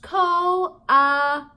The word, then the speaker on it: coatis: These are, coatis, Mrs. Brisbane said, reading from the letter. Pronounced co-a-tees. I'll wait for a second while somebody in your room goes and looks that up.